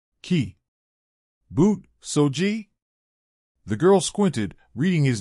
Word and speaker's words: Kibutsuji: I pronounce that name Ki boot soji the girl squinted reading his name tag as a zuku smiled half-heartedly it's kibutsuji not g-e-e as in ogs but j-e-e as in jeans don't ask me why